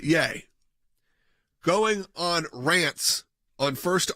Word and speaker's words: Ye: started with Kanye West ye yay yay yay said it right yay going on rants on